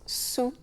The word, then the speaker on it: saoul: Mais les trois termes se prononcent sous, donc le L reste silencieux.